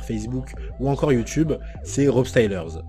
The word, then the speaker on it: RopeStylers: D'Instagram à TikTok en passant par Facebook ou encore YouTube, c'est Rob Stylers. Ça s'écrit R-O-P-E-S-T-Y-L-E-R-S.